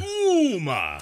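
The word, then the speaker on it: Ooma: Not Uma, like that, Uma Thurman. Right. It's Uma. Uma. O-O-M-A. It's so like Uma.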